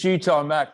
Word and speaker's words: G Tom Mac: said my name but it's properly said it is cheetah mac because nobody could ever